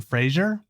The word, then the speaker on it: Fraser: make fake news Brendan Fraser apparently it's I said his name wrong last time and it's Fraser oh sorry sorry Brendan I